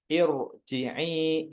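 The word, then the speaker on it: ارجعي: Jadi dibacanya walaupun ir tapi dibacanya tetap tebal. Seperti irji'i ila rob, ir. Jadi tetap tebal karena di depan roknya ada hamzah wasol.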